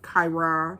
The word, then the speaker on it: Chiron: want to talk to you guys about uh kyra that's how you pronounce it uh this retrograde that we're having